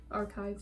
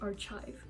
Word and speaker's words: archive: I used to think it was archive. I used to pronounce it CH, like sh, and I embarrassingly did not find out until I was like an adult that is archive.